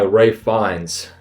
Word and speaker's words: Ralph Fiennes: And M is played by Ray Fiennes, or for those of you who don't know, it's spelled Ralph Fiennes.